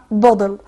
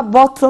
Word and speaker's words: bottle: فاول حاجة هناخد حاجة اسمها بودل. يعني هي بتتنطق دبل تي، احنا متفقين دايما الدبل تي بتتنطق دي، ممكن تقولها بوتل وتضغط فيها وتعمل ستريس، او تقول بودل عادي.